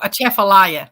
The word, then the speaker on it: Atchafalaya: sharks in the oh how do you pronounce that at Atchafalaya was that right whoever won that but did I say it right there's a chapelia oh a chef Elia there you go I was right kind of like jambalaya